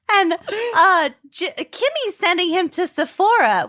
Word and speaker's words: Sephora: And she sends, and Kimmy's sending him to Sephora, which he thinks is pronounced Sephoria, like the HBO show Euphoria.